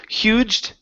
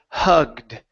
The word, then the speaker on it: hugged: awesome this word here instead of huged okay the word is hugged they all hugged hugged